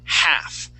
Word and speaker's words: half: word is right here half that L is silent half half good one